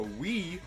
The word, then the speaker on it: Wi: like a sun bison it's called weat we is a pronunciation spelling is wi so wait if that's